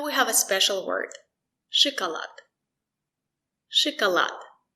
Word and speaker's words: шоколад: Шоколад. Шоколад. The stress is on lad. Шоколад. Sh. The letter O is not stressed. We pronounce it as I.